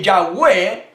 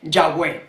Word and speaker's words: Yahweh: Castellano y hablando Castellano yo puedo pronunciar correctamente yagüe porque así se pronuncia el nombre solemne imponente